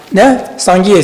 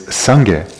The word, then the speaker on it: Sangye: The Tibetan word is Sangye. So Sangye, this word is comprised of two syllables. Thank you. 2 syllables. The first being sang, the second gye.